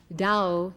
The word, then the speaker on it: Dao: Dao in Chinese, which as you know is spelled T A O.